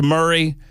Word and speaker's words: Murray: Uh, by the way, I think the uh the super texter knows that it's pronounced Murray, but I think she or he they are